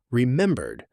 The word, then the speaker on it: remembered: In fast American speech, remembered often gets compressed. The middle syllables blur together.